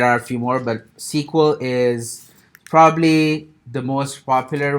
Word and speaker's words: SQL: is called SQL or sequel it's kind of pronounced sequel it's and it stands for structured structured query